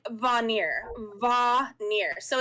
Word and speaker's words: Vanir: and and gustav helped me and um it's pronounced like vanir va nir so it's not it's not ice